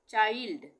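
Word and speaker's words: child: से शब्द है ये जैसे सी एच आई एल डी यहां पर क्या उच्चारण आ रहा है यहां पे चाइल्ड ये हम इसको क्या पढ़ रहे हैं चाइल्ड यानी आई का उच्चारण आ रहा है यहां पर चाइल्ड माइल्ड फाइंड बाइंडी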